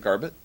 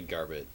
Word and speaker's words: Garbett: And, is that how you say it? Garbett? Either, I would say Garbett. Okay. Too many T's for Garbet.